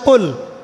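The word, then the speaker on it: قُلْ: কিন্তু আপনি যদি কফ এর মাখরাজটা ভুল করেন এবং কফ না বলে আপনি ছোট কাফ পড়েন এবং কুল না পড়ে আপনি কুল পড়েন। বলেন যে কুলহু আল্লাহু আহাদ। তাহলে অর্থটা পরিবর্তন হবে।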